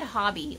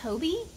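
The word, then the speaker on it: Hobbii: real quick um i guess i have been pronouncing hobby yarn wrong i said hobby like as in hobby h-o-b-b-y because it's like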